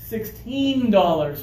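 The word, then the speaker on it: sixteen: store will say oh I'm sorry sir yes $16 for the shirt and you say oh okay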